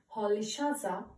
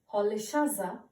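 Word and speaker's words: Rolihlahla: how will you pronounce it okay the correct pronunciation is Nelson Polly shaza Mandela Nelson Polly salsa Mandela yes you heard it right now you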